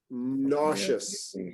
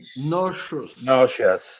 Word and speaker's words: nauseous: Everybody follow me with pronunciation. Nauseous. Nauseous.